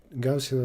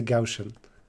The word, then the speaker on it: Gaussian: notes on the right gaussian elimination pronounced with s not i used to say gaussian or something like that